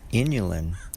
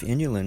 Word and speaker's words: inulin: I was beginning to suspect that inulin, which is an ingredient inside of Jerusalem artichoke, it kind of rhymes with insulin, and it even is similarly spelled. And I began to wonder if inulin might have any kind